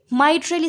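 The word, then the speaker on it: mitral: हम bicuspid valve या इसको माइट्रल वाल्व या मिट्रल वाल्व, आप जो भी प्रोनाउंस करें, इसको कहते हैं।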